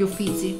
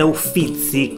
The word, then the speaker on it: Uffizi: al volo come detto la parola Uffizi deriva letteralmente dalla parola uffici non si dice uffici con le due c ma sentirete quasi tutti di dire Uffizi con la doppia Z anche se di fatto ne è una sola mentre siete in fila